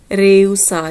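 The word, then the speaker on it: rehusar: Next अपना word है जी इनकार करना, इसनों आप दो तरीके नाल बोल सकते हैं, रेउसार, जिहड़ा एच है स्पानिश विच आचे, यह बिल्कुल साइलेंट है इत्थे, रेउसार अते नेगार, दोनों तरीके नाल।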